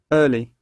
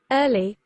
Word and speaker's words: early: american pronunciation of it notice it has a hard r and then it will